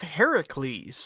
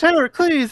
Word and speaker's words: Heracles: Heracles, Heracles, Who the hell's Heracles. Heracles? So Heracles is the original Greek pronunciation and spelling of it.